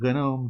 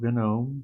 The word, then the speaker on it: GNOME: That's how you pronounce that word in English, gnome. Silent G.